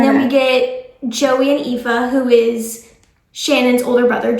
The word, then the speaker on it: Aoife: There's like a whole name pronunciations, like Aoife.